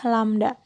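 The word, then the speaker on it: lambda: panjang gelombang ini sering disimbolkan dengan lamda ini lamda ya Ini cara bacanya lamda panjang gelombang adalah suatu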